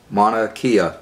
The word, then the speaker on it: Mauna Kea: the tone of hawaii wanna mount of that pronounced Mauna Kea volcano do you think yes Mauna Kea volcano